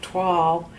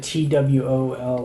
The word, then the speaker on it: toile: Oh, so what's it? TWOLL? It's TOILE. Oh. See, I was calling that tulle.